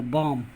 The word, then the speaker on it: balm: बाद अगर यम आए, जब यल के बाद यम आता है तो यल का उच्चारण नहीं होता है। जैसे पॉम, PALM, LM, पॉम, कॉम, कॉमन शांति, CALM, शांति, और बम, बम मर रहा हम, BALM।